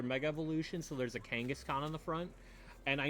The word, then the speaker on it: Kangaskhan: co-workers bought this because we had an inside joke where she would continuously like say the name wrong. I think she at one point called it Afghanistan and at one point called it Genghaskhan.